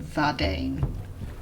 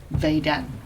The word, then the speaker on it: Vadin: And as for Vadin, they did say that they personally pronounce his name Vadane, but there are people who most commonly prefer to pronounce his name Vaden. And they also said that they do sometimes see people pronounce his name Vadine, which is the one